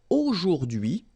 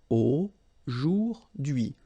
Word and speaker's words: aujourd'hui: H is not pronounced, so you only get this d'hui thing. Aujourd'hui.